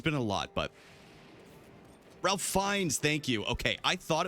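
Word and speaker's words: Ralph Fiennes: But Ralph Fines, thank you.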